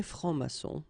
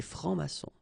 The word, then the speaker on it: francs-maçons: S here and S here, des francs-maçons, and then you don't pronounce them, des francs-maçons.